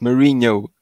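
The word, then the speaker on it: Marinho: It's Marino. Ah. Yeah, Marino. I didn't notice the J in there. Because, it's NH. We pronounce it Nya.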